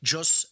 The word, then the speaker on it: jus: Jus means jus, J-U-S in Latin means law. Jus juris is how it's pronounced in Latin.